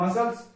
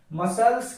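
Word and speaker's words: muscles: पर साइलेंट हो जाएगा उसी प्रकार मसल्स मसल्स के अंदर भी देखिए एस के बाद सी ए रहा है मैंने उदाहरण ही आपको ऐसे दी है ताकि आपको समझ में ए जाए तो मसल्स मसल्स मसल्स मसल्स अगर इसको सी को लेकर पढ़ेंगे तो मुश्किल होगा क्योंकि एस के बाद सी ए रहा है तो साइलेंट हो जाएगा बस यही बातों का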